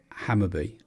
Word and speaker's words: Hammarby: so Hammarby football or Hammarby pronounced hammer be okay he's a Swedish